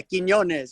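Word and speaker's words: Quiñones: Did I say it right? Yeah, Quinones. Yeah, you got it, homie.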